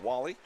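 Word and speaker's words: Wale: catch Nick Wall-E spelled w a l e pronounced Wall-E comes on and makes the catch but the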